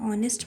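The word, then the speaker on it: honest: For example she इज़ एन ऑनेस्ट girl. इसका रीज़ है एन लगने का। ऑनेस्ट में एच साइलेंट है बट साउंड ऑनेस्ट वोवेल से स्टार्ट होता है इसलिए यहां एन यूज़ होता है।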